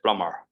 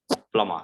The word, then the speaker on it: plumber: So we feel that we are already like, already B is silent. So we should just like pronounce R. We can say plumber. But also we can pronounce as plumber.